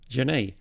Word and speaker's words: Janesh: I've been apparently mispronouncing it the entire time. Apologies for that one. It's Janesh.